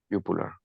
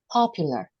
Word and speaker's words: popular: So in the case when we pronounce this letter P is more popular. No es tan seca, okay? Es más plosive se llama eso, plosive sounds.